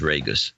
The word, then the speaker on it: Reyes: hi there it is Reyes it's pronounced like Vegas Vegas Sir Terry night